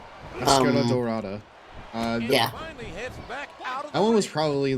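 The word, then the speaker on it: Máscara Dorada: Mascara Dorada.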